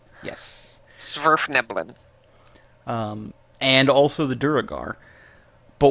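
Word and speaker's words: Svirfneblin: like Smurf with a V. Yes. Smurf Neblin.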